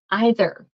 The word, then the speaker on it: either: The other one's kind of like the word I. Either. So either. Either you or me, either you or me. Yes. Thank you, Cortez. You are correct. There are two different pronunciations here.